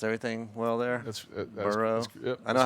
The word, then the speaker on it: Burrow: I pronounced everything well there. That's Burrow.